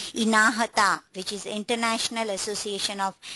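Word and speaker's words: INAHTA: The agency which they pronounce as INAHATA, which is International Association of Health Technology Agencies, which is like a combination of a different HTA.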